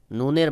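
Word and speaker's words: نون: তারপরে রয়েছে নুন, নুনের মাখরাজে যে জিহ্বাটা একটু চাপ দিয়ে উচ্চারণ করবেন। যেমন নুন, নুন।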